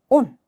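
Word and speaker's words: он: 하지만 오는 모음이 하나이기 때문에 강세가 무조건 이 유일한 모음에 떨어지는 거예요. 온.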